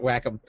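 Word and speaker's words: Wacom: Yeah, Whack 'em. Yeah. There you go. That's how you say it. Whack 'em.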